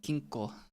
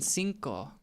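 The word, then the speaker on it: cinco: Did they mean sinko? Not kinko. Sorry. I've been learning a lot of Welsh lately. And in Welsh, the C is pronounced like a K.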